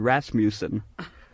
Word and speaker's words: Rasmussen: And it was signed Howard Rasmussen, to rhyme with Rasputin, I guess.